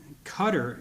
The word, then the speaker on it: Qatar: water borders with iran to the north and qatar is how they pronounce it when we were there to the